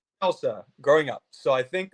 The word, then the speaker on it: Chelsa: So a round of applause there because so many people say Chelsea even though my name is spelled phonetically.